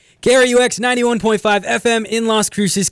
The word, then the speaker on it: KRUX: You have to say KRUX. I've heard people like pronounce it like KRUX, which is weird. Like they make it sound like, and then people call us crooks.